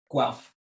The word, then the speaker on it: Guelph: I'm an associate professor of political science at the University of Guelph. Perfect. I'm just afraid of mispronouncing everything at this point.